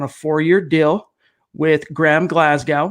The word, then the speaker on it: Glasgow: four-year deal with Graham Glasgow which is how I believe it's pronounced it's not Glasgow it's Glasgow from what I've been told four-year deal 44 million